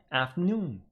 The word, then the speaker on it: afternoon: on the pronunciation here Theon pronunciation of this word is on the second part afternoon afternoon but evening and night